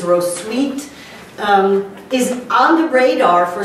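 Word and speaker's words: Hrotsvitha: without a rose Evita the wikipedia says the actual pronunciation is ro sweet is on the radar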